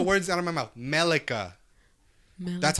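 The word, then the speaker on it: Miquella: Melika. That's how you pronounce it.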